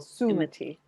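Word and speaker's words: Sumati: partners so go ahead think of the emphasis on the first syllable summati zuma t okay um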